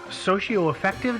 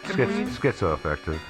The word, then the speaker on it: schizoaffective: It's that Blair was having some kind of mental break, it's a socioaffective disorder. Schizoaffective. Is it schizo? Schizoaffective, Schizoaffective. yeah. I knew I was mispronouncing that, so that's why I double checked